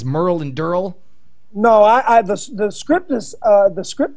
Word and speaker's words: Daryl: No matter how it's spelt, it's pronounced Durrell.